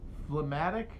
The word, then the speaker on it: phlegmatic: up phlegmatic see you're saying oh it's like phlegm flem doesn't have a g right but quixote is pronounced quixotic so just the fact that that's the thing it's coming from doesn't mean that's how you're supposed to say it no it's quixotic i've